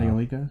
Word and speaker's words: Mayoiga: to support the production of the original anime Mayoga. I think that's how you pronounce it. Is Mayoga? Mayoga? I don't know. Mayoiga.